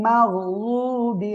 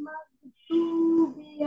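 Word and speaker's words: مَغْضُوبِ: এই যে রদ অক্ষরটা কিভাবে উচ্চারণ হবে, জিহ্বার গোড়ার কিনারা উপরে মাড়ির দাঁতের গোড়ার সঙ্গে লাগিয়ে উচ্চারণ করবেন।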